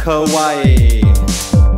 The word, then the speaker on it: Kauai: Kauai. Rhymes with, obviously, Hawaii.